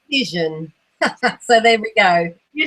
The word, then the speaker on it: Cision: Is it Sisian or Sizen? Cision.